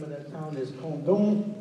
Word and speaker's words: Condom: The name of that town is Condom. That's the way you pronounce it in French.